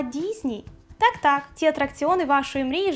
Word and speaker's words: Disney: Який вимовляється не Дісней, а Дізні.